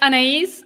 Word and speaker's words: Anaïs: So it's Anais and then, which is also quite difficult to pronounce for German. So it's fine. Is that a German name? No, the last name is. The first name is French or Northern African, depending on where how you see it.